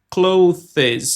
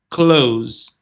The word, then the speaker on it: clothes: Uma coisa importante na pronúncia de close é que tem esse th aqui também. Só que a pronúncia correta não vai ser clothes. Não tem essas duas sílabas. A pronúncia correta é close.